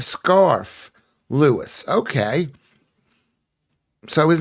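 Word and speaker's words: Scarfe: You don't pronounce the e at the at the end of scarf.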